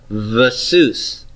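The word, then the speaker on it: וְסוּס: So it'll be pronouncing the vav as a v, vasus.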